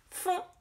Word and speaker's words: font: Font, ça s'écrit F-O-N-T. Et on voit encore qu'il y a N-T. Alors là, le N, on l'entend parce qu'il fait le son on avec le O.